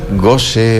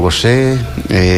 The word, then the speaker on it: Gaucher: Porque, bueno, ya él nos explicará por qué es considerada rara esta enfermedad, que tiene, según me decía, varias pronunciaciones: Gaucher o Gaucher, Gaucher, entre otras.